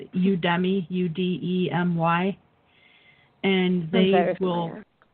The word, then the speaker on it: Udemy: that they have I don't know if I pronounce the name of this company right but it's udemy ude my and theirs will they'll put their